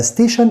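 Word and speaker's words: station: طيب محطة، كلمة محطة هي كلمة ستيشن، وخلي بالك بقى ستيشن TION في أي كلمة ده مقطع بنطقه شن، زي بولوشن، انفورميشن، ستيشن وهكذا. طيب حركة المرور دي معناها ترافيك، تاني كده اسمها ايه؟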